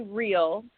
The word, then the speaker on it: Reill: It's actually Reill. So there's some irony in that because not a lot on me is real. So I do not. Oh, my apologies for saying your name wrong. I wanted to make sure you knew that it's real.